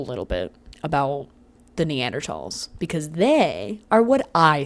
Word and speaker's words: Neanderthal: It's not pronounced Neanderthal. I know it has a th.